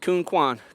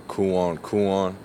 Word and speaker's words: Quan: heard of your name worst pronunciation is by far Kuan Kuan you know like there's no dashes in my name so I don't know where you got that from all right what's the